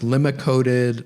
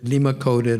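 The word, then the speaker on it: limacodid: And they could pre pronounce limacoded, limacoded or lacodated. I tend to say lacodated, but just like you could say or with my name.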